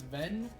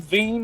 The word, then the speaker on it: Vin: I'm saying it right. Right. It's Vin. Yes. Vin. You could call him Ven if it makes it easier for because you know the whole joke's Venus fly trap.